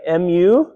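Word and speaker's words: μῦ: Then we have mu, right? M-U or mu. M is in man, right?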